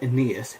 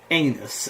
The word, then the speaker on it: Aeneas: Weston at the start he always goes okay so we're gonna really in need with Aeneas and it's called Aeneas and it's not pronounced anus okay and Martin well